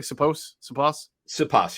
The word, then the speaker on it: Siposs: Did I pronounce it correctly? Siposs, you got it.